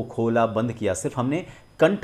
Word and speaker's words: ख: के एच लिखने का मतलब यही है कि हम उसमें क और ह दोनों का उच्चारण करेंगे। तो क, ख, क में ह जोड़ा और उसको हमने जब उच्चारण किया कंठ से तो वो बना ख।